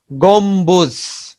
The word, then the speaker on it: গম্বুজ: মর সঙ্গে যদি ব ফলা যুক্ত হয়, মর সঙ্গে ব ফলা যুক্ত হলে ব উচ্চারণ স্বাভাবিক থাকে।